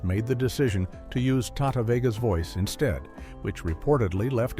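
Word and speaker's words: Tahta Vega: a completely different person, a talented vocalist named Tata, whose name is spelled T A H T A Vega.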